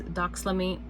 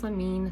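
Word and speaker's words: doxylamine: all that is is damine damine this one's really hard to say do damine succinate so I'm going to spell it just in case I'm not saying it correctly but it is d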